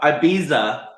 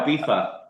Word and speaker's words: Ibiza: Like Americans say it one way, the English say it the other way. yeah, So kind of I what live right next to Ibiza, but we call it Ibiza. Ibiza.